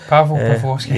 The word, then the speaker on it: Paweł Pawlikowski: is Black Khaki Klansman, Spike Lee, Cold War, Paweł Pawlikowski, I think that's how you say it. Paweł Pawlikowski.